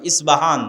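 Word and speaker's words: اصفهان: আমরা প উচ্চারণ করি ইস্পাহান আরবিতে এটা উচ্চারণ হয় না আরবিতে হয় আল আসবাহানি বা উচ্চারণ হয় ইসবাহান বা আসবাহানি সেখান থেকে 70000 ইহুদি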